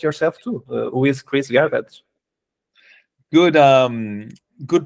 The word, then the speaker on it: Garbacz: too who is Chris Garrett good um good pronunciation of my name uh here in Australia no one knows how to how to uh pronounce garbage they're like a garbage all these other funny